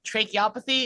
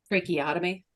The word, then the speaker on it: tracheotomy: There's choking with a tracheopathy. Is that what it's called when you stab, not the throat, like right here? Tracheotomy.